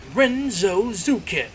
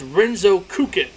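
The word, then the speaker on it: Renzokuken: But Squall's limit break is known as Renzo Zukin. No, I can say it's Renzouken. That's how you say Renzoken.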